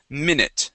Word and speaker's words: minute: good yeah so uh that U is actually going to sound like an a short I sound and that e makes no sound at all okay so minute okay um